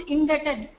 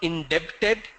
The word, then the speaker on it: indebted: It's not debit, it's debt. Pay Indebted. attention to, pay attention. Am I visible to all of you? Yes, sir. Okay, so pay attention to my pronunciation structure. A lot of people make the pronunciation as debt. It's not debt, it's debt. Likewise, it's not indebted, it's indebted.